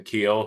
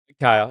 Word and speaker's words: Keil: I got to meet people like Jason Keel, who is with me here today. Ke, am I saying that right or like Kyle? Uh Kyle. Yeah, it is Kyle.